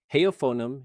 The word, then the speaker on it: heofonum: Heofonum uses that fricative allophone rule from slide eight. The F sits between two vowels, so it's voiced, pronounced like a V.